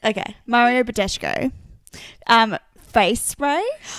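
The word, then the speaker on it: Badescu: brand, but it's the Mario Badki. Bad Bushko. Yeah, that's not right. Yeah, Mario Bad. Can I see it? Badesho. Badesho. That's it. Okay. Mario Badesho.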